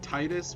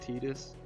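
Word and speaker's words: Tidus: I always said Titus, but I know it's technically pronounced Tetus.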